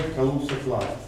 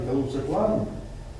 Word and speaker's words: Kaluza-Klein: First, like above, we have Kaluza line.